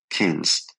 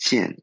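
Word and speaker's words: 見: Classical Chinese also had an overt passive marker, kins, which is pronounced jian in modern Mandarin.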